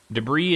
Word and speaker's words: debris: meme song for sure debris is spelled the is that second way there Benny the with the S a little silent s you're watching this price